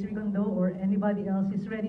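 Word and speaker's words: Rigondeaux: So whoever's the champion, whether it's, do you pronounce it as Rigondo? Yes, whether it's Rigondo or anybody else, is ready to face whoever's the champion.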